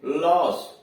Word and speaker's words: loss: जैसे लॉस, LOSS लॉस, यहाँ ओ बीच में आया है, इसके पहले यल कॉन्सोनेंट यानी व्यंजन है, पीछे यस व्यंजन है, इसलिए उसका उच्चारण आ हुआ आ, तो लॉस।